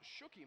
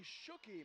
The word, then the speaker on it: Shockey: I think it's pronounced Shooky, Matt.